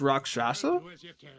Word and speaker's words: Rakshasa: So it's pronounced Rakshasa?